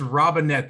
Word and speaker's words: Robinette: It's Robinette. Think of a robin caught so in a I did net.